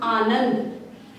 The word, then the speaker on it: आनंद: तो सबसे पहले लिखेंगे हम आनंद। आनंद, आपको अनुस्वार का ध्यान रखना है और इसका उच्चारण भी शुद्ध करना है।